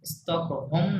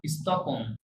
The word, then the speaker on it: Stockholm: France à Stockholm স্টকহোম না, স্টকহোম, হ্যাঁ? স্টকহোম। ওই আর কে Stockholm সাইলেন্ট রাখবেন। ফাইন।